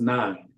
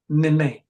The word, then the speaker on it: Nine: because it's sort of like this, like my 12-year-old son's name is Nine, Nine, like the number. But when people look at it, they don't pronounce it as nine at first. They'd be like, Nene.